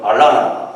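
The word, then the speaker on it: Atlanta: 우리 한국식 발음은 아틀란타지만 미국식 발음은 알라나 그렇죠.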